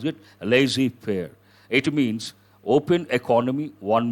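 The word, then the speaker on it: laissez-faire: the return to lazy prayer how do you pronounce it lazy fair it means open economy one meaning no restrictions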